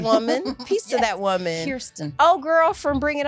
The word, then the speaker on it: Kirsten: Yeah, you said Kristen, so I just wanted to point out that you said, and I said it wrong. Peace to that woman. Peace to that woman. Kirsten.